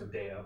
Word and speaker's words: Medea: technically it's pronounced Medea, but whatever.